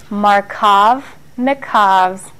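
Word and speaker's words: Markovnikov: this rule is called marav nv's Rule Ru make sure you know how to spell that too I know it's a hard name but you can do it sound it out marov nikov rule okay and you'll find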